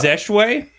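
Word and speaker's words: Zeshue: Actually pronounced Zeshway. I'm not sure about It's a that. common Zach. misconception. How's it spelled? Oh, my Z-E-S-H-U-E? I don't know how to continue.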